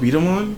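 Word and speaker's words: B-Daman: And then is that how it's pronounced? Beat 'em On?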